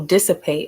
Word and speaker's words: dissipates: Because I want to say despite. How do you say it? Oh, dissipate. I was way off.